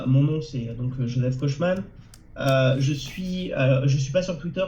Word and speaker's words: Kochmann: ça se prononce Kochman. C'est de l'allemand et ça a été francisé. Et maintenant, ça a été américanisé, donc les gens disent Kochman. Mais moi, j'étais habitué à dire Kochman.